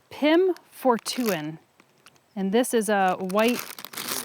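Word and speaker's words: Pim Fortuyn: Pim Fortuin. Pim Fortuin. Town. Down. I'll never get touched. You'll never get the I. Ow, ow, No, ow.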